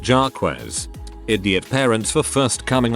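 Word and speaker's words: Jacques: He had a half brother about 12 years younger named Jakes, pronounced Jarquez.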